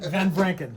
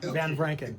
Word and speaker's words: Van Vranken: How do we pronounce your name? Van Van Branken. Van Branken.